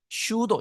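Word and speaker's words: pseudo: 그래서 이제 그 캄비세스 이게 슈도 슈도는 거 슈도 고도 하는데 피는 묵음 돼서 슈도 그 슈도는 가짜라는 뜻이죠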